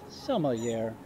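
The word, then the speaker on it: sommelier: a world-renowned caramel arrow it's pronounced summer year I could have just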